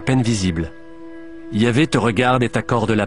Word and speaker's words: Yahvé: En hébreu, le nom de Dieu s'écrit YHVH, ce qui ne se prononçait probablement pas Jéhovah, mais Yahvé.